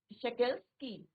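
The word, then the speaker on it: Шокальский: तो प्रोनाउंसिएशन इसका आप लोग देखें, शोकेल्स्की।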